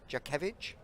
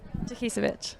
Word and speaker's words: Jakisevich: We've also got Jakevich. Is it close? Say it properly for me. Jakisevich.